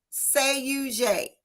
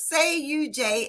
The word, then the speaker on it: SADUJ: coffee and catch up, we're going to talk about say you J. Say you J. Can I tell them how you say it spelled backwards, what it means? Yes. Well, listen, y'all, I learned this tonight because say you J, SADUJ, is simply the word Judas spelled backwards.